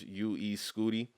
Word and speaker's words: UY Scuti: But it is pronounced UE Scooty.